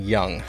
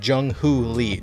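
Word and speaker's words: Jung Hoo Lee: of Korea, Jung-Ho Lee, which I was saying wrong. I was saying Young. Nope, it's Jung-Ho Lee, just so you guys know.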